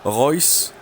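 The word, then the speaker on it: Reus: pour te dire que j'ai bien appris à prononcer Marco ryce et non pas la mauvaise présentation prononciation que j'avais fait dans le dernier match donc voilà Royce et ses potes alors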